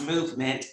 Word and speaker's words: MMNT: Lilly JDRF wisely Health mmnt pronounced movement the diabetes link Dexcom